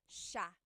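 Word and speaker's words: siya: but it's actually pronounced sha sha so the s i y it's a sha sound sha And then another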